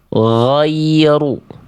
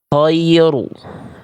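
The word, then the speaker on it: غير: Ya, oke, nih sekarang saya coba contohkan sekali lagi, ya, bacaannya seperti ini, gho. Ghoiru. Kalau dia keluar nafas, jadinya kho. Khoiru. Gitu, jangan sampai ya.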